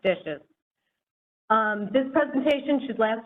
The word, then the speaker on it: DHSES: to the acronym dishes or dhses pronounced dishes um this presentation should